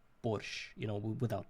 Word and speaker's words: borscht: actually, I would say, I don't know why they added T at the end, because in our pronunciation it's just like borscht, you know, without T at the end.